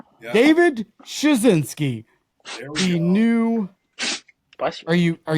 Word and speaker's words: Szczunciski: Smith you know Smith David Smith it's uh shinski shinski David shinski he knew are you are you I never